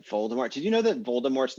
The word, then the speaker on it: Voldemort: did you know that voldemort's name was supposed to be pronounced voldemort yeah without the final t and like just everybody